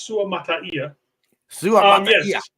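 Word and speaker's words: Suamataia: I know everybody keeps wondering how to say it's Su Mata Su um this guy is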